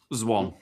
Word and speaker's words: Zwan: It's Swan, but with a Z. Zwan.